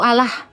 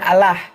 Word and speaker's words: Allah: Kalau secara teks dalam Al-Qur'an ya memang dia tulisannya Allah. Ya karena alif lam lam ha. Allah. Nah, tapi kalau cara membacanya dia seolah-olah A itu bersuara O.